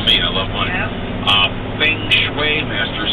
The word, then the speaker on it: Feng Shui: To improve harmony, Stephen Post days, pronounced Feng Shui.